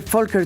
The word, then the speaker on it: Volker: La visita de Folker Tork es muy importante. ¿Cómo se pronuncia Fker? La la V en alemán se pronuncia como Volkswagen.